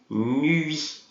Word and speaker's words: nuit: Então tem o U e tem o I, a gente tem que pronunciar os dois. Bonne nuit. Ça va? Nuit. Tem que fazer o biquinho, ok?